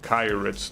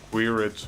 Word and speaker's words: Kyrex: Well, that one is pronounced Kyrex, not Quirets or Kirets.